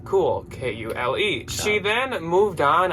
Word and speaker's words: Kule: Next up, we are moving on to a brand called Kule. And no, this is not Kuhl outdoorsy cool. This is a brand that is spelled Kule.